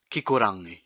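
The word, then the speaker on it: kikorangi: a little bit tricky the reason why it's a little bit difficult is because you have the r sound here then straight away you have the sound so it is pronounced kikurangi lastly i hope you learned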